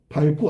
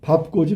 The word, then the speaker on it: 밟고: 밝고. 아니. 이거 틀렸잖아. 밥고지. 밥고. 리을 비읍에 밥고지 밥고 밥고가 돼야 되겠지 이건 할다고 맞았고 여덟 맞았네 정답은 3번이 들렸고 밟고가 아니라 밥고다 어 밟고 간다 어 밟아라